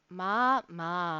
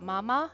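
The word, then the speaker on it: まあまあ: Ma means so-so, okay? It's not mama, it's ma. You gotta add the extra A sound at the end of each of those. Otherwise mama becomes, otherwise you're saying mama.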